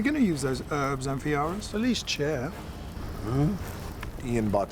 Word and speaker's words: Amphiaraus: I play Amphiaraus. Well, there was a lot of talk about how to pronounce his name. It was Amphiaraus. Amphiaraus, everybody. Problems with Greek names, We eventually settled on Amphiaraus.